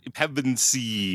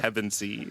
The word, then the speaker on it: Pevensey: Wait, what name can you not pronounce? Oh, Pevensey? Pevensey. Oh, okay. All right. Pevensey.